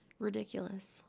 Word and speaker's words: Riddickulous: Ridiculous. Let's talk about that for a second. ridiculous as in whoa, that's crazy. That's insane, but I do spell it a little bit differently.